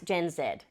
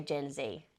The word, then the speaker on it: Gen Z: Obviously in Australia it's Gen Z, as in Z-E-D. But you'll be forgiven if you do say Gen Z, as in easy under Albanese.